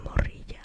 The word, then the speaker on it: morrilla: And then you can also say morrilla, o si era media morrilla.